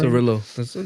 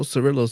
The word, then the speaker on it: Cirillo: Cirillo. That's the way he pronounces it, bro. Cirillo.